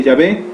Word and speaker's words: Yahvé: vemos estos nombres jehová jehová es un barbarismo es una pronunciación mal expresada y motivada por la ausencia de vocales en el nombre impronunciable de yahvé con aplicaciones de las vocales erróneas ayo y a por lo